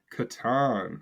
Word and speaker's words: Catan: How do you pronounce Klaus Teuber's classic, The Settlers of? Catan.